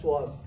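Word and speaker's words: psoas: Another muscle here we have so P is silent. So SAS it is P SAS but we called it as SOAS.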